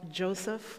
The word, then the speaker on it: Joseph: The name itself, Joseph, or by the Hebraic pronunciation, Yosef, means God will give.